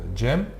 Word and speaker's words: Cem: Yeah, we got some nice tip that Göker Khan, his name is pronounced Gem.